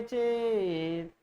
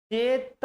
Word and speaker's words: चेत्: जैसे था यस्याह पादे प्रथमे द्वादश मात्रास्तथा द्वितीयेऽपि अष्टादश द्वितीये चतुर्थके पंचदशार्या निरक्षीर विवेके हंसालयस्य त्वमेव तनुषे चेत्, चेत नहीं बोलेंगे क्योंकि आधा है, चेत हल्का सा बोलेंगे।